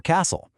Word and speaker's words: castle: So, here we've got silent Ts and silent Ls. Think about it for a sec. You never hear the T in listen or castle. And that L totally vanishes in words like walk, talk, or palm.